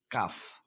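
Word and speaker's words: calf: অথবা এল কে থাকে তাহলে আমরা এই এল উচ্চারণ করবো না ফর এক্সাম্পল আমন্ড কাঠ বাদাম আমন্ড কাঠ বাদাম কাফ বাছুর এরকম হাফ অর্ধেক ওয়াক দেখুন এখানে এল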